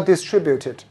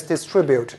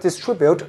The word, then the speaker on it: distribute: a chain of stores now this word again is distribute it's not distribute there's no such way of pronunciation you kind find it in the dictionary okay but the word contribute is correct contribute and contribute are both correct but distribute must be distribute in the original sentence